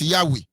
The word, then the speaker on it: Yahweh: Four Hebrew alphabet, which is pronounced as Yahweh, the God of the Israelites, whose name was revealed to Moses. It has 4 Hebrew constants. Yahweh, which is YHWH.